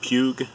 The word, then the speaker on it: Puig: These are made by, I think the pronunciation is Puig, P-U-I-G.